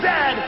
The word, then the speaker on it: Zed: is a coach and it is pronounced Zed not z z Canada is the second